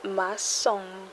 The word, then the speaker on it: maçon: Remember the little tail under that C, changing the C sound to an S. Le maçon.